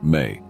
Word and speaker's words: me: Another potent symbol related to Enki is the Mes, pronounced May.